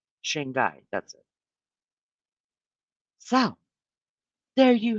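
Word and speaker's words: Shanghai: how to say it and and Moscow H shang guy that's it so there you have it there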